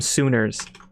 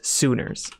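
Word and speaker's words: Suners: I was thinking the other day, we should call everyone who watches Crashsune, we should call them Sooners. Like S-U-N-E-R-S. No, pronounced soon with an E-R-S, like boomers. Sooners.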